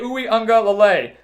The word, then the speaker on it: Uiagalelei: They were led by their freshman quarterback, DJ Uiagalelei. Got that pronunciation right this time. DJ Uiagalelei.